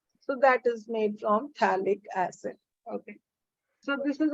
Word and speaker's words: phthalic: P is silent, so we call it a phthalic acid, COH on the adjacent carbon atoms.